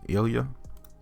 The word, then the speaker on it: Ilya: They also provided another email from Elon to, I don't know how to pronounce that name, Ilya.